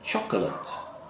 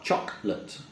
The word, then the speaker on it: chocolate: would say vegetable vegetable another silent syllable word is very common chocolate chocolate just two cinnamons chocolate